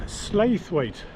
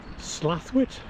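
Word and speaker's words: Slaithwaite: it's uh it's 600 and uh it's not pronounced slave weight apparently it's uh slathwit slaw it 600.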